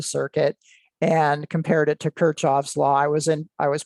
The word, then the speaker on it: Kirchhoff: measurements across the circuit and compared it to Kirchhoff's law. I was pronouncing that incorrectly. It was brought to my attention that it's not Kirchhoff, it's Kirchhoff.